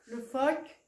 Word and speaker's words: phoque: Le phoque, c'est le F. Même si dans le phoque, ça s'écrit PH. Des ciseaux.